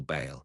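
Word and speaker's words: Bael: What ball? No, no, not ball bale. The pronunciation is similar, but wait, stop fooling around.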